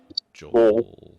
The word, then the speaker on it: Joel: Phonetically, that's a really funny name. Joel. Joel. It's like hole with a J.